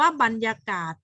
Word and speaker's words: บรรยากาศ: อย่าง เช่น คำ ว่า บรรยากาศ พรรษา หรรษา สรร หา ต่าง ๆ ก็ อ่าน ออก เสียง เป็น เสียง อัน แต่ ถ้า เมื่อ ไหร่